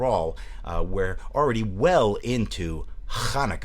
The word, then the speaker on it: Hanukkah: we're already well into Hanukkah, as I like to pronounce it. It helps clear the throat and at the same time pronounce a holiday in its original form, as I believe.